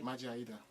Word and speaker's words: Maje Ayida: And she was married to a man called Maje Ayida. Did I say that properly? Maje Ayida. Thank you. He always corrects me when I don't pronounce names properly.